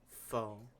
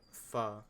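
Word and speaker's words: phở: Now, last but not least, fo or fo as it's correctly pronounced.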